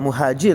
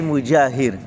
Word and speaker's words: المجاهر: C'est pas muhajir, hein? C'est pour ça qu'il faut bien prononcer. C'est pour ça la prononciation des lettres est très importante, même quand on lit le Coran, il faut faire très attention. Il y a muhajir et mujahir, ça c'est mujahir.